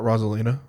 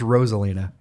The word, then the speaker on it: Rosalina: Wait, is it not Rosalina? It's Roselina.